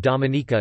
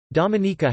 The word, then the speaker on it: Dominica: Its name is pronounced with emphasis on the third syllable, related to its French name of Dominique. Dominica has been nicknamed the Nature Isle of the Caribbean for its natural environment.